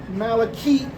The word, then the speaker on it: malachite: But if you if you spell it m a l c h e a t e malakeit to rhyme with parakeet, I'm still going to